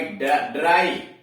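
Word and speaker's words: dry: डी आर वाई, ड्राई, इसके पहले दो व्यंजन आया है डी और आ तो ड्राई।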